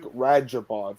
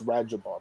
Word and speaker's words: Rajabov: to this guy's pronunciation it's like rajapov even though it's a Red's above it's radja Bob so got that one